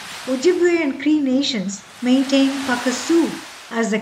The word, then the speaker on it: Pukaskwa: the Boreal forest oju and cre Nations maintain pakaso as the correct pronunciation and the word describes what what people